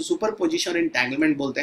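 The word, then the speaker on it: entanglement: दूसरा इंटैंगलमेंट है ना, यहाँ पे एन जो है वो साइलेंट है, थोड़ा ध्यान रखिएगा एंटैंगलमेंट, ओके तो सुपर पोजिशन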